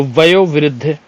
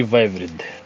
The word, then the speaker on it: वयोवृद्ध: की बात करें तो वयोवृद्ध शुद्ध शब्द होता है ठीक है एक सेकंड क्यों खिसक रहे हो भैया वयोवृद्ध शुद्ध शब्द होता है ना कि वैव विद्ध ठीक है य वाला